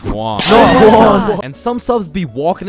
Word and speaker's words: Juan: That's just how it's pronounced. Jan, is there Jan in the room? It's Juan.